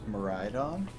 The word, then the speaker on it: Miraidon: Return Miraidon? That's canon. That is how it's pronounced.